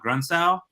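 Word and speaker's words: Grundsow: their their name is uh grunsal i'm pretty sure is how you say it um g-r-u-n-d-s-o-w uh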